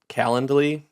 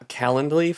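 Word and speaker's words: Calendly: It's like calendar but l y and no er.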